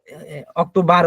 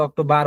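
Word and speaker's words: Oktober: সুপা, আমরা দেখবেন হচ্ছে অক্টোবা বলি, বাট অক্টোবার বলি, কিন্তু অক্টোবার হবে না, হবে হচ্ছে আপনার অক্টোবা।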